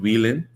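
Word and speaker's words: Wheeland: Is it Van or Wean? How how do you pronounce it in Turkey? Uh we pronounce it wheelin, right?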